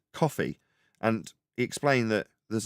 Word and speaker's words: Ko-fi: But it's not Ko-Fi, although that's how it's spelled. It's coffee.